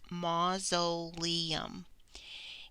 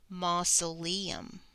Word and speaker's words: mausoleum: 'm but it's pronounced mausoleum and when i say that word you may be able to hear let me say it slowly and I'll emphasize the syllables ma so Li mausoleum has four syllables we have ma and